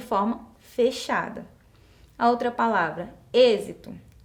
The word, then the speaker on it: êxito: fechada a outra palavra êxito Eu não falo êxito não é um som aberto Então são fechado eu uso acento circunflexo êxito tenho aí o